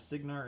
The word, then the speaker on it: Cygnar: And Mitchell says my pronunciation of Cygnar is right. Okay. So for those of you who saw the Cygnar is like Sigmar, but with the M swapped to an M.